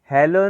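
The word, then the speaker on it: Hallo: ये देखें, आ, आपने हमें मैंने आपको पढ़ाया था ना हालो, क्योंकि उसमें आ है, हेलो नहीं, आ, हालो।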